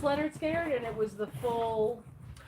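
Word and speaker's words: Lynyrd Skynyrd: already showed that one okay so this is pronounced leonard scared and it was the full oh is that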